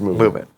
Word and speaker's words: MVMT: Movement Watches, pronounced as MVMT, pronounced Movement.